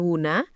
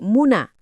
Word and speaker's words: Wuna: Tempat itu kemudian dinamakan Wuna dan kerajaannya pun disebut kerajaan Wuna. Nama ini melekat kuat. Meskipun seiring berjalannya waktu, lidah para pedagang asing dan administrasi kolonial Belanda mengubah pelafalannya menjadi muna.